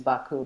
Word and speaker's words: Baku: I guess, pronunciation is Baku, but the way that it's rendered and it's not a U in Azerbaijani, it's like an I without a dot, and which is more of like a sound.